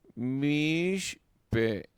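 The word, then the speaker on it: מִשְׁתֶּה: De 2 shevas seguidos, ¿verdad? El primero de los sheva permanecerá nuach, ¿verdad? Entonces, mish te, mish te. El primero no se va a pronunciar.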